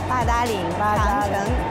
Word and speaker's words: Badaling: So I pronounce it Badaling. Yeah, Badaling, Changcheng.